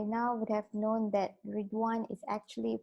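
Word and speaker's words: Riḍván: everyone uh by now would have known that ran is actually pronounced as resan right so it's a uh Festival of joy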